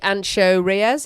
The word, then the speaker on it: Ancho Reyes: little bit of the chili to kill the ancho Reyes is that how you pronounce it yeah so we've added some chili